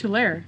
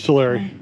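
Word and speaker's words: Tulare: I've always heard it pronounced as Tair. No, it's Terary.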